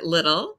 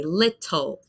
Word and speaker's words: little: So for me, I pronounce it like the grocery store, little, like almost sounds like this, like the grocery store, little. It's the same pronunciation for me to say little. But in the UK or in other accents, you might say little, little. For me, that sounds strange and formal, but the British English